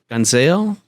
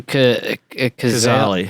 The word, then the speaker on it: Cazale: Gonzale? I confuse him with Johnny Thunders now. Who? Casale, Meryl Streep's first husband. From Fredo. John Cazale.